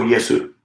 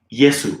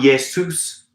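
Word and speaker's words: イエス: it's saying japan um it's also yesu yesu not yesus with an s at the end because again in japanese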